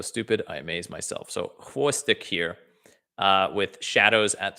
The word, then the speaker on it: xvostik: Xvostik. Or, oh my God, I'm an idiot. It's Russian X, so it's xvostik. Wow. Sometimes I'm so stupid, I amaze myself. So xvostik here with Shadows at 3 a.m.